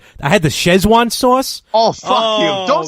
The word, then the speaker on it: Sichuan: 3 times a Szechuan. See, I don't even know what does that even mean, Szechuan? It's so in Chinese, Sichuan is actually the way it's really supposed to be pronounced.